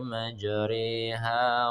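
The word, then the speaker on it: مجريها: Pada kalimat majroha, tulisan huruf ra-nya itu ee, fathah ya, baca ra gitu. Tapi karena dia imalah hukumnya dibaca imalah, hukumnya ee, bacanya condong atau miring ya. Majreha. Bismillahi majreha wa mursaha. Nah, begitu. Bacanya majreha.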